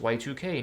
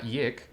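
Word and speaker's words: YIIK: It's pronounced Y2K, not Yik, because the writer really likes using Roman numerals for some reason.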